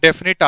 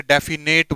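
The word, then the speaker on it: definite: हो रहा है डिकोड डेफिनिटी आर्टिकल कहा जाता है भाई कई बच्चे से डेफिनेटली बोलते हैं डेफिनेटली बोलते हैं जबकि गलत प्रनंसीएशन है तो डेफिनिट बोला जाता है यह स्पेलिंग भी कई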